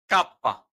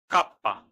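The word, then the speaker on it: kappa: আমরা যে বলতাম সেটি ইতালিয়ান ভাষায় ইলুঙ্গা কাপ্পা যাকে আমরা কে হিসেবে চিনতাম এটি হল কাপ্পা দপীয় ভু ডবলিউ হিসেবে আমরা যে অক্ষরটিকে চিনতাম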